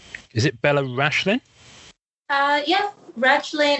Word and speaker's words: Rachlin: Yeah, Rachlin. In Hebrew, it's Rachlin, but it's hard to pronounce in English.